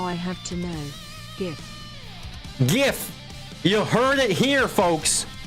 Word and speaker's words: GIF: than GIF you're wrong the creator of the file format said it's a hard G I mean obviously it